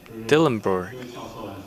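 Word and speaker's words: Dillenbourg: How do we pronounce his name? Dillenburg.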